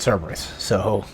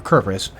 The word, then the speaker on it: Cerberus: going to have to fight Cerberus. Or Kerberos. We're going to have to fight a Cerberus, whichever way you want to pronounce it.